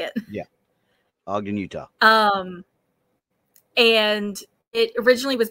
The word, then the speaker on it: Ogden: Utah something like that I know how to spell it not how to say it yeah Ogden Utah um and it originally was built as part